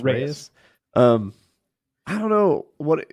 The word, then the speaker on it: Reyes: next opponent Chia Dominic how do you pronounce it rise raise r e y e s raise um I don't know